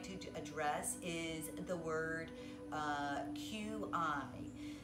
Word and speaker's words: qi: The first thing I'd like to address is the word QI. So QI is pronounced different in many different cultures. And the most commonly pronunciation of QI is qi.